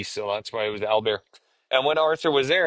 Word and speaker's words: Albert: In French, you don't pronounce the last T, so that's why it was Albert.